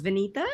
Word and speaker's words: Vineeta: say it for us yes my name is Venita oh it's powerful I love it